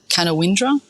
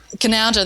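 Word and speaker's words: Canowindra: I pronounce this right the can Windra um I didn't even know where that is because my geography of Australia was so bad Cananda there you go yeah that's okay I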